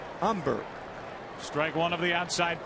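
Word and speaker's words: Humber: hitter used to have Phil umber silent h umber strike one of the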